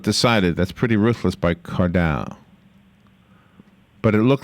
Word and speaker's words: Cardale: Former Ohio State Buckeyes quarterback Cardale Jones. Did I say it right? Cordell. Yeah. Cordell. All right.